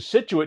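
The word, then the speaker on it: Scituate: All it is Situate. He said, that doesn't even look like Situate.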